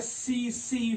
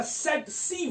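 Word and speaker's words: tsetse: अगर हम एक साथ पढ़ेंगे, पहला टी आ जाएगा साइलेंट तो आ जाएगा सेट सी फ्लाई। अगर कंटिन्यू पढ़ना है तो सेट सी फ्लाई या इसे सीसी फ्लाई भी कहते हैं।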